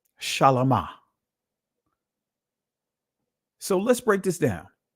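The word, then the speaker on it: שלמה: And his name is pronounced Shalama. Shalama.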